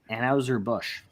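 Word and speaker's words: Anheuser-Busch: uh Budweiser sure why not um um it's pronounced anhauser Bush uh yeah if I gotta say that I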